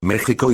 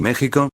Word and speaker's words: México: a j sino que siguieron escribiendo second x de ahí la actual pronunciación de topónimos como texas y méxico así como de nombres